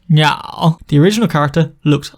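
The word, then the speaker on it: 鸟: Well, this character means bird and is pronounced niao.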